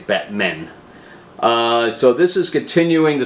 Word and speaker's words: Batmen: the Batmen eternal so I didn't say it correctly it's Batmen so this is continuing